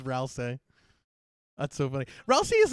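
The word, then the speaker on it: Rouxls: I can't believe I pronounced it Rousey this entire time and it's Rousece.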